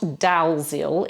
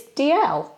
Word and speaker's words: Dalziel: No, it's not Dalziel, even though that's how it's spelled. It's DL, like DL and Pascoe, the policeman.